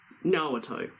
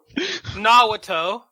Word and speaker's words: Naruto: I need to talk about this guy He's pointing at and how to Naruto. pronounce his name.